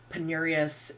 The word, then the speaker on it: penurious: So in American English, penurious is the pronunciation that I heard most commonly.